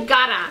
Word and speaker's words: Vergara: Okay, and did you roll your R correctly? Vergara. I can't really roll it, but I try.